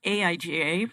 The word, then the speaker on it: AIGA: It's just AIGA. Okay. So tell us a little bit about this AIGA, what it does, what it is, why it is. So, AIGA, pronounced like that, originally stood for the American Institute